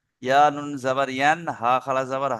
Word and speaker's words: ينهى: আরাই তাল্লাজি, ইয়া হা, ইয়া হা নয়, আমি বলছি ইয়া নুন জাবার ইয়ান, ইয়ান হা।